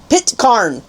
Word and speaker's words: Pitcairn: I had somebody teach me how to say it today. Pitcairn. Something like that. Pitcairn. The Pitcairn Islands. That's how you say it.